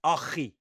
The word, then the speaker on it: RG: which is obviously RG Wait. Snyman. Firstly, it's not. It's Achi Snyman. That's how they pronounce it.